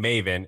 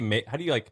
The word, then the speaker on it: Maven: So Maven, how do you say, Maven? It rhymes with like Raven.